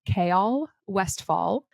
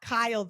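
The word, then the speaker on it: Chaol Westfall: received the most questions about his name is pronounced K West fall also known as kale also known apparently as Kyle yeah it's not Kyle like he's not been saying it like Kyle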